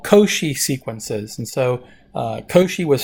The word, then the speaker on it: Cauchy: so section 2.6 deals with what we call koshi sequences and so Toshi was french so this is how it's pronounced the sea is like a que que long o co she and the accents on the copart is a